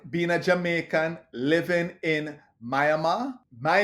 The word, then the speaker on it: Myanmar: the language it's pronounced Myanmar. You don't say the R. The R signifies that you drag the A.